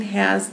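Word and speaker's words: ὁ: And rough breathing has the h sound. The way that you pronounce this word is ha.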